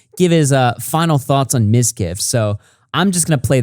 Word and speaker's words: Mizkif: Or Mizkif's.